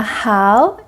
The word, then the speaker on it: 好: And the how is good. The pronunciation of how is just like the first word of English how are you? How. Let's make it to third tones.